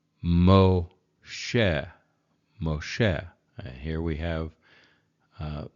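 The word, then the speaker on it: משה: is Moses but but it's the vowel o because it's in that position but it's also the doggish for the shin so Mo Moshe okay zot ha to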